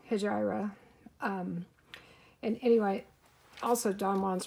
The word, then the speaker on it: Hejira: And I think in Canada they pronounce it differently than they do in the US as well. So I say Hejira.